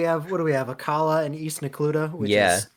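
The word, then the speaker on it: Akkala: Yeah, it's a Kala. I say Akala.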